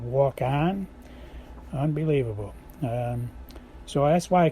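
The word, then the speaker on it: Waukon: Iowa called walk on it's spelled wau Kon walk on Iowa and she's playing walk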